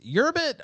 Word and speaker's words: Urbit: All right, so I think is it URBIT or it's URBIT, right? Yeah, it's Urbit.